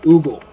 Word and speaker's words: ogle: I might want to oogle or ogle. Which is it, oogle or ogle? It's spelled ogle, but most people I hear pronounce it oogle.